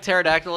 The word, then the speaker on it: pterodactyl: with a be like pterodactyl is that silent P like new Zack says